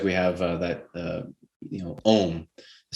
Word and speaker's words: Om: and an Om literally would just be like, Om, and you just draw out that syllable for as long as you can.